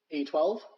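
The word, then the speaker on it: X Æ A-12: Okay, XAE, which is pronounced I. Yeah. XIA12.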